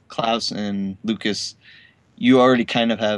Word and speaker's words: Klaus: I always have pronounced it Klaus too. I didn't think it was very American, so I made the conscious choice to say Klaus on the podcast. Just so you know, instead of claws.